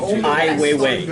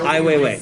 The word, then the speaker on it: Ai Weiwei: Oh, wait, remind me how to pronounce that? Ai Weiwei. Ai Weiwei.